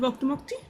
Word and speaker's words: Octomocti: I think I got the pronunciation of Octomocti. But Yep, probably didn't. Octomocti is said as is.